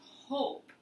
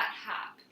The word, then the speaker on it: hope: this word hope hope there's a silent e at the end of hope isn't there we don't say that sound but this e tells this letter o it has to say its own name and become a long o so this word is hope not hap okay it's the